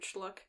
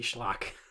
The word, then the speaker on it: schlock: heck uses the word schluck what does that even mean dude it's supposed to be schlock we just pronounced it wrong what is that i